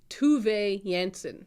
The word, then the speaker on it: Tove Jansson: And that is The True Deceiver by Tove Jansson. No, Tove Jansson is how it's pronounced.